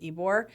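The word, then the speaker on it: Ybor: yes it's y b o r but you pronounce it ebore and um that from that place to hide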